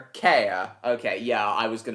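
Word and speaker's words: Cahir: Car. Care. Care.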